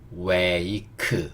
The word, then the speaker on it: wake: W는 우, A는 에이, K는요 큐, E는요 묵음. 그래서 여기 이 K는 의 소리를 내야겠죠. 그래서 웨이크 이렇게 읽어지겠네요.